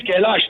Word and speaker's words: Kailash: And my name is Kailash, not Shailesh, sir.